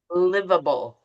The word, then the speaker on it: livable: So live like I live in Santa Ana. Livable.